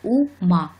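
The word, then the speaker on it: うま: у нас лошадь ма-ма следует отметить что первый звук мы почти не произносим слове ума а произносить будем так ма-ма почти не произносится первый звук который издает лошадь это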